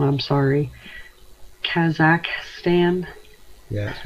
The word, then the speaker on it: Kazakhstan: Rab was asking about, and if I pronounce it wrong, I'm sorry, Kazakhstan. Yeah, that's right, Kazakhstan, yeah.